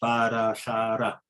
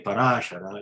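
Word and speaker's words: Parāśara: Vyasadeva was born to Parashara in the womb of Satyavati, the daughter of Vasu. Yeah, the right diction is Parashara, Satyavati. There is no accent in Sanskrit. So if you say Parashara, you are putting an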